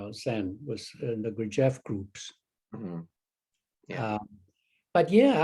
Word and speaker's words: Gurdjieff: Gurdjieff with a G. Gurdjieff.